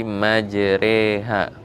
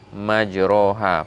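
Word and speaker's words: مَجْرٰىهَا: Jadi majreha, bukan majroha. Padahal aslinya itu adalah fathah di situ. Tapi karena ini namanya imalah, bacaannya yang agak asing, tidak seperti biasanya, maka dibacanya majreha.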